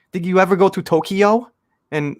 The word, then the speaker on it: Tokyo: tokyo so americans say tokyo like did you ever go to tokyo and it's tokyo it's two syllables not three right so you know